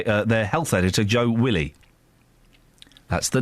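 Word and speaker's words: Wiley: Can you How would you pronounce it? Willie.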